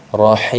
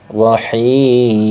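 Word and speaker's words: الرحيم: Mad Arid Lis sukun Bagaimana cara membacanya yaitu boleh dibaca panjang satu Alif dua Alif atau tiga Alif rahim rahim rahim nah seperti itu Jadi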